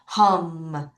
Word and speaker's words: home: 자, 요것도 이가 소리가 안 나지만 발음은 M까지 끝까지 할게요. home. 다시 home.